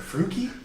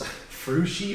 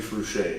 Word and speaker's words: Fruchey: Fruchey. That's how you say it? Fruchey, yeah. Oh, damn, this whole time, in all the years I've known you, I thought it was Fruchey or Fruchey.